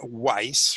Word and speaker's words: Weiss: and I am Weiss rhymes with nice and we are obsessed